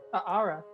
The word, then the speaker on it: Aara: Carl, like Carl, Carl, and Ara, which is spelled Aara. Ooh. Ara.